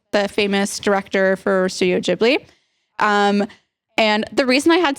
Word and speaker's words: Ghibli: Oh, it's Ghibli, not Ghibli? Or maybe is it, do I say it wrong? Is it Ghibli? Aiden, what is it? What is it? Ghibli. Okay. Thank you, Aiden.